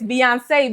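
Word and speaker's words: Beyoncé: When it goes this way, like when it goes this way, that's why on Beyonce, it's Beyonce because the ou is on that e.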